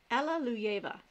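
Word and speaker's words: Alliluyeva: let me try that again Alleluia you try pronouncing that right there Alleluia ver thank you that is how it is pronounced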